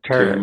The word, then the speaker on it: Terra: And and I went to the I go to the Terra I don't know how to pronounce it. Terra Yeah, Terra Immune Health.